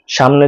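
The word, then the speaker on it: ثاء: সাটা উচ্চারণ করতে হবে জিহ্বার আগা সামনের উপরে দুই দাঁতের আগার সাথে লাগিয়ে মুখ থেকে বাতাস বের করে তারপরে উচ্চারণ করতে হবে।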